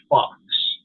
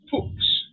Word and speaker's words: Fox: My last name is German, and it's Fox. It's, so you basically in Germany you would say Fuchs.